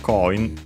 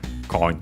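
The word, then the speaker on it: コイン: Coin is accented also on the first syllable, in that case, just like in English.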